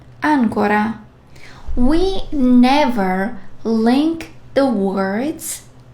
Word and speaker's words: ancora: The stress of the letters can change the meaning sometimes, like ancora, ancora.